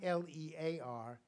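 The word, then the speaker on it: Leir: text called king lear but not l-e-a-r l-e-i-r but it would have been pronounced the same way king lear spelled his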